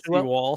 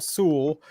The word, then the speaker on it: Sewell: Not Seawall, Sewell.